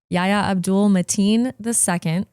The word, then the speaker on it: Yahya Abdul-Mateen II: and I looked up how to say this, Yahya Abdul-Mateen II.